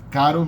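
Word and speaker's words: caro: Standalone art then it's pronounced like a single tap of the tongue like a tiny little tap like like Daddy in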